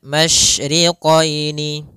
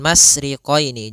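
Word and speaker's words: مشرقين: Pada lafal masyriqaini, maka di sini ada huruf shin, maka kita harus membacanya dengan adanya sifat tafasyi. Apa itu tafasyi? Tafasyi adalah salah satu sifat yang terkandung di dalam huruf shin, yaitu menyebarnya suara. Sehingga jangan dibaca Rabbul masriqaini, jangan dengan huruf sin, tapi dia huruf shin.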